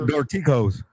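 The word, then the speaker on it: Dorticós: Dorcas? Dorticos.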